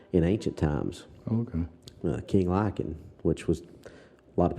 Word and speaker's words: Lycaon: The king, for those who don't know, King Lycan was, or Lycaon, however you want to pronounce it, it's depending on where you're standing in the world is how you pronounce stuff. But I pronounce it King Lycan because I'm a ignorant old hick.